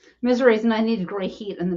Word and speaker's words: Missouri: from Missouri Missouri and one time I said Mis misery and he's like yeah that's how to pronounce it he left Nick says